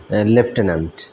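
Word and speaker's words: lieutenant: দেখেন আপনারা উচ্চারণটা কেমন লিউটেনেন্ট উচ্চারণটা হয় লিউটেনেন্ট কিন্তু এখানে এটার উচ্চারণটা হবে লেফটেনেন্ট তো এই লেফটেনেন্ট অর্থ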